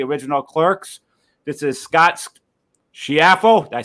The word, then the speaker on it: Schiaffo: This is Scott Schiaffo.